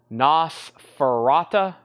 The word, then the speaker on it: Nosferatu: Nosf Nosferatu Ferrachu.